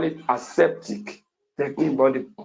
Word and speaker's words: aseptic: have which i want to really emphasize is aseptic technique you can also call it a septic technique body correct pronunciation should be aseptic you see a septic